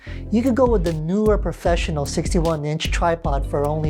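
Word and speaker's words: Neewer: You could go with the newer professional 61-inch tripod for only $119.99. How do you say that? It sounds so Scandinavian, spelled N-E-E-W-E-R. Newer!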